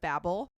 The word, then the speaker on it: Babel: Also, she kept correcting me because I kept saying it wrong. So it is the Tower of Babel.